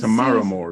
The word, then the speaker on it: Tamara Moore: When you say this, Tamara Moore, sorry.